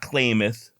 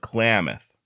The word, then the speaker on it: Klamath: I'm told I've been pronouncing Klamath wrong it's not claimeth but Klamath duly noted if there's